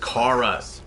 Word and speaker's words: Kara: No, it's pronounced Kara.